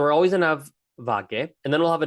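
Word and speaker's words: વાગ્યે: It's spelled vagye with like a Y sound, vagye, but it's usually pronounced vage when we're talking relatively quickly.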